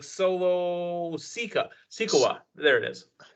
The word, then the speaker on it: Solo Sikoa: It's like Solo Sikoa. There it is. Solo Sikoa.